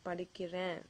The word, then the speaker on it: படிக்கிறேன்: Let's take an example, and I observe that many people mispronounce this word. So let's take an example here. Let's say you want to say I am studying. You can say நான் படிக்கிறேன். நான் படிக்கிறேன். Not படிக்கிற. So whenever you say that,